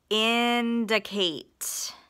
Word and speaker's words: indicate: indicate inate we've got a closed syllable in Du is a open syllable exception that I is awah and then c a t e vowel consonant e